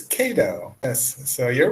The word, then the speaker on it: Kado: thank you so much and how can I pronounce your name it's KO or you're absolutely correct it's KO yes so you're right my name is KO very simple short name is it okay am